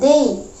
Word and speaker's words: they: Ini dibaca they. Kalau teman-teman menemukan huruf T sama H, maka itu suara dal. Maka kita akan bilang they.